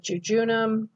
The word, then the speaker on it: jejunum: same sound as well so if we have ge gi and gy all of those have that that soft g sound or the or the j sound okay so here we have jujunum when we have ge